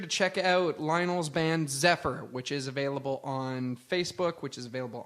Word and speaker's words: Xephyr: way be sure to check out Zephyr and it's spelled x e p h y r we is the most